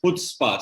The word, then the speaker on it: Chutzpah: It's a very actually sorry to correct you, but the pronunciation of the same show is Chutzpah, C silent. Acha, Chutzpah. Okay. C is silent, so it's Chutzpah.